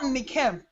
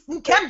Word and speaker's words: Nkem: It's not Nikem. It's not Kimberly. it's Nkem or Nkem, I tend to correct that.